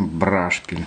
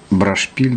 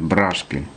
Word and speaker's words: брашпиль: одно и то же ударение брашпиль хоть шпиль вроде бы брашпиль должно быть нет брашпиль морской тематики там все свои ударения как когда-то пел высоцкий не